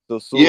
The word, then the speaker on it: Sosua: Sosua Beach. Yeah, yeah, yeah.